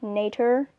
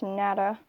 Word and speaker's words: Natter: on the ba 349 nada or nature but in german it's nada or aka it translates